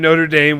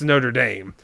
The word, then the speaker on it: Notre Dame: But yeah, for the college, it's Notre Dame. Is what it's called. So my mom pronounces it the bottom way. Notre Dame. She puts Notre the extra R in Dame. there.